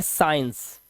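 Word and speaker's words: science: एस के बाद आया सी साइलेंट होगा। जैसे एस सी आई इ एन सी ई से पढ़ते हैं साइंस तो यहां पर सी साइलेंट ऐसे ही सीन सी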